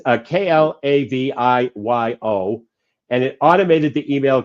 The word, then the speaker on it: Klaviyo: A couple of my clients have that tool, and of course I can't pronounce it right. But it's Klaviyo, and it automated the email campaigns.